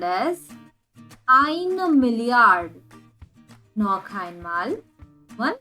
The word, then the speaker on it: eine: as ions but here there is an e at the end so we have to pronounce it as einer and million is million